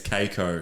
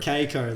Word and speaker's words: Kako: Isaac Kako, am I pronouncing that right? No, I actually made a call to a friend who knows him before this, and he told me it's Keiko. Keiko, there we go.